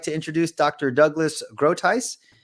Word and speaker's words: Groothuis: It's Douglas is easy, but it's Groothuis. It's a Dutch name.